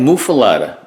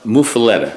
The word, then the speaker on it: muffuletta: classic muffaletta muffaletta mufu i like mufalada is that how they pronounce it no mufaleta so we're going to call